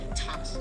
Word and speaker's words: Thomas: Although these next words and names are spelled with a TH, they are pronounced as if they were spelled with a normal T. T. Like that. And these words are Thomas, Thomas, Thompson, Thompson, Teresa, Thailand,